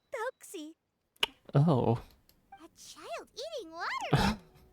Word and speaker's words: Thelxie: Thelxie. Okay, Thelxie. Thank you for letting me know how to pronounce that.